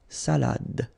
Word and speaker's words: salade: It only gives you the pronunciation of the previous letter. So d, salade, salade.